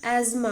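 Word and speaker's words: asthma: अस्थमा। इसको हम लोग एज्मा बोलते हैं। ये अस्थमा लिखा होता है। लेकिन हम इसको पढ़ते एज्मा है। इसका प्रोनाउंसिएशन एज्मा होता है।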